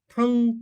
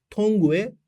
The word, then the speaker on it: tongue: bir vurgu yapmak istiyorum Bu Tang diye okunuyor şöyle tanga bir yere vurdum böyle metale vurdum ble T diye ses çıkar ya öyle tongue değil bir de bunla çok